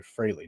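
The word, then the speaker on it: Frehley: The reason why Ace Freley, I'm sorry, Freilley, not Freley, Freilley, uh, passed away, I said Ace Freely all in high school growing up.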